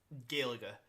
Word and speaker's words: Gaeilge: And the Dublin dialect, the area around where most Irish people live, is Gaeilge, is how it is pronounced in that main dialect.